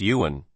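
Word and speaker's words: 缘: Zone Tenn the Chinese character for fate is pronounced Yuan while that of deep and shallow are pronounced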